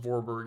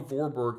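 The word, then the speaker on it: Warburg: that Dr Otto vorberg his name is actually pronounced vorberg even though it looks like warberg um Dr Otto vorberg literally found this almost a hundred years ago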